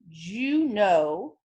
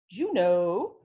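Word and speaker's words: Juneau: Lake City Colorado Denver Hawaii Honolulu Alaska is pronounced Juno Juno Arizona Phoenix New Mexico Santa Fe did we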